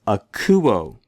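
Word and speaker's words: ἀκούω: If it were rough, it would mean make an H sound, hakuo, which is not a Greek word. The accent, I'll remind you, the accented syllable tells us to stress that syllable.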